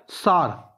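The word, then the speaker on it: Tsar: सार। T silent है इत्थे, सार बॉम्ब।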